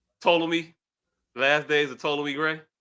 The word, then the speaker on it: Ptolemy: is silent. Ptolemy.